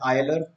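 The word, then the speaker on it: Euler: यूलर्स function, some people pronounce it आयलर, आयलर्स function, whatever suits you.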